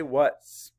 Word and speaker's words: what's: for what is say what's map The Sounds uh what's the a makes a schwa sound spell it w h